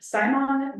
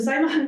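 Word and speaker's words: siamang: They are actually expanding to, build a conservation building for Simon gibbons. I had to actually look up the pronunciation because it's spelled really crazy, but so the Simon gibbons are an endangered species, and they're gonna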